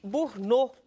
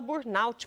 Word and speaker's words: burnout: vamos falar sobre a síndrome de burot muita gente fala burut porque se escreve assim e aí eu já